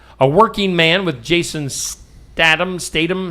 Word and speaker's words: Statham: A Working Man with Jason Statam Stadium. How do you say that? Statam. I don't know for sure though. Stat. It looks like you should say Statham, right? Statam. Statam. Ham. Ham. Jason Statam.